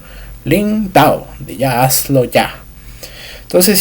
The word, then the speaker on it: 道: Y la segunda en sí, que es el dao se va a estar imponiendo, se va a estar haciendo de manera impositiva o imperativa, porque es la forma, el tono de pronunciación, el cuarto tono de la pronunciación, mientras que el interrogativo es el segundo tono.